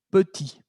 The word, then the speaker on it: petit: Y entonces la consonante T no se pronuncia al final. Ya lo habíamos visto. Pero en femenino agregué una E. ¿Ok? Agregué una E. Y entonces se liberó el sonido de la T.